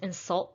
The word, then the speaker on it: insult: one please do not insult the guests please do not insult the guests insult is a verb so we should stress the second syllable number two my son